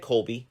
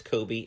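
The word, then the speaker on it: Coby: i got to and i said colby and then i said sorry it's kobe i always say it wrong and she said it's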